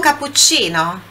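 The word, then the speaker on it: cappuccino: do início aqui vou capuccino capuccino Olha também aqui falando sobre pronúncia pronúncia do CC aqui como são dois é um só um pouquinho mais forte levemente mais sorte que tivessem um só é ser diferença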